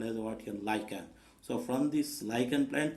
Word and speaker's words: lichen: But actually we should not pronounce as a lichen. We must have to pronounce as a lichen, L-I-K-E-N. But spelling is L-I-C-H-E-N.